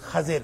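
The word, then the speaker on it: خَضِر: خضر قرآن میں کوئی لفظ نہیں آیا، حدیث میں آیا ہے، اور اس کا صحیح تلفظ خضر ہے. خا پہ زبر ہے، ضاد کے نیچے زیر ہے، اور خضر جس کا معنی ہوتا ہے سرسبز و شاداب.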